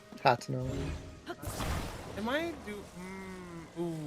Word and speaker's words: Hateno: Also, you mispronounced Hateno. Am I You ooh. said Anito.